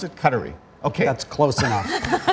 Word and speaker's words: Qatari: What is the correct pronunciation of Qatar? Qatar. Is it Qatar or?